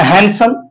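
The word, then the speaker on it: handsome: ये ये क्या है हैंडसम तो इसमें भी जो डी का साउंड है ये साइलेंट है इसके अलावा ई है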